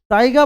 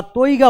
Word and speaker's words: তাইগা: Next কোশ্চেনে চলে যাই তাইগা বন নিচের কোন দেশে পাওয়া যায়? এটাকে তাইগা উচ্চারণ করতে পারো বা তৈগা বলতে পারো।